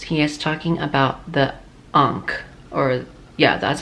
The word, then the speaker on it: ankh: short arms yes he is talking about the ankh or yeah that's how you pronounce it so you can imagine if the